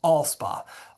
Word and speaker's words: Alspaugh: And, Giles, Alspaugh... if you've been wondering how to pronounce that word, it's all-spa. Giles, Alspaugh, Pegram, and West House, those will all be picked up in Giles.